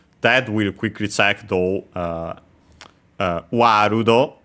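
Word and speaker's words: ワールド: Warudo, World becomes Warudo. with a longer vowel. As usual, the long A, again because we have the sound and so the closest one, A, and then also long, as already mentioned. The ru for both the for the L technically, word, world, but yeah, Japanese doesn't have the L sound, it becomes Japanese R, even though L can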